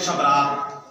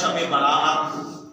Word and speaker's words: شب برات: کہہ دیتے ہیں شبرات، شبرات کا تلفظ غلط ہے، اصل لفظ ہوتا ہے شب برات۔ شبرات کا معنی تو ہو جاتا ہے رات رات، شب کا معنی بھی رات ہے اور رات کا معنی بھی رات، تو رات رات یہ تلفظ غلط ہے، صحیح تلفظ ہے شب برات، یعنی توبہ کی رات،